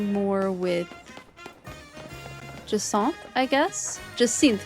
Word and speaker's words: Jacinth: Jacinth, by the way. That is how you actually pronounce Jacinth's name, is Jacinth. Similar to Hyacinth.